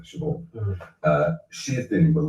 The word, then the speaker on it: Siobhan: Siobhan, I always call it Siobhan, because that's the Scottish way of pronouncing it, Siobhan.